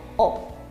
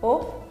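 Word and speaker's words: を: Entonces siempre lo vamos a leer como O. Por ejemplo, como una manzana se dice ringo o tabemasu. Lo leo como O.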